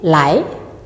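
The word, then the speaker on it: 来: en chinois, c'est « lai »,« lai »,« allô »,« lai ». Le temps se place sur le A et notez bien la prononciation de AI, ce n'est pas E, mais AI.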